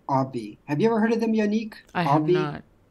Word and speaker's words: Obvi: Like obvious, but Obvi.